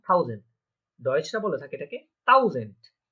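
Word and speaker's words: tausend: 1000, ডয়েচরা বলে থাকে এটাকে থাউজেন্ড, কি বলে? হ্যাঁ, থাউজেন্ড। ওই যে আমাদের একটা এইচ যেটা আছে এটা থাকে না, তাও জেন হয়ে যায় কি টে আ ইউ এস এ এন ডে, থাউজেন্ড। এটা থাউজেন্ড, থাউজেন্ড মানে থাউজেন্ড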